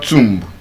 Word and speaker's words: tomb: And yes, since we're in the Easter period, Jesus has risen from the is not tomb. Tomb. Yes. Tomb. T O M B. The B is silent. Tomb.